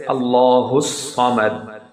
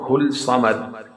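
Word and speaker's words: ٱللَّهُ ٱلصَّمَدُ: So we'll pronunciate as Allahus Samad. Hus Samad, not Hul Samad.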